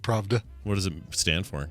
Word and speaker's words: Pravda: Pravda, not Pravda. Pravda. Yeah, not Pravada. Okay, Pravda.